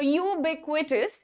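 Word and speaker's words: ubiquitous: है कोई बात नहीं सो यू ब क्विटस ये हमारा करेक्ट प्रोनंसिएशन है कोई भी ऐसी चीज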